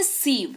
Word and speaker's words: sieve: इसको कहते हैं सीव, स्पेलिंग देख लो SIEVE, इसको सीव पढ़ते हैं, उच्चारण भी दे रखा है।